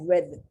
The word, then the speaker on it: read: Now, R-E-A-D has two pronunciations. You can either spell it read, I like to read the newspaper, or read, I read the book, parts of the book yesterday, R-E-A-D.